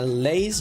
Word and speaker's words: Leiss: you want my handle, it's uh a lace just like my name Lace and then a C like Dragon Ball C.